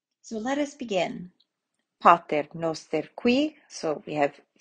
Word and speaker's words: pater: So on the A of pater, the O of noster, and the Q and the U of qui.